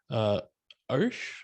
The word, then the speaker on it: Arsh: And I will kick it over to Arsh. I'm sorry if I didn't say that correctly. That's the most correct pronunciation.